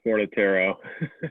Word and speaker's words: Fornataro: uh, it's Fornataro.